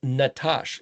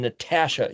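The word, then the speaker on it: נתש: Nun tav shin means nut, it's pronounced Natash, like Rocky and Bullwinkle had Boris and Natasha, the Russian spies.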